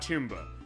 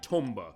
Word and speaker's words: Tomba: Tom as they go which I guess Japanese pronunciation is that is not tumba as some people on YouTube have said said like rgt 85 they keep saying that wrong it is uh technically Tomba I guess as far as the pronunciation but